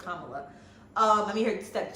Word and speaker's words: Kamala: it yes she call herself mamala so it's Kamala um I mean her step children call her